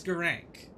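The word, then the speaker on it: Gurranq: how to say his name and it is gerank but he is a clergy beastman who is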